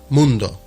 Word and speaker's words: mundo: In Spanish, mundo, and in Portuguese, mundo. Monde? They don't pronounce the O in Portuguese.